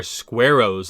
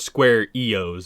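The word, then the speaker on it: Squaroes: So as part of their Squareos line, I think that's how you say it, Square-Os, yeah, it's not Square EOs, it's Squareos line of deck boxes.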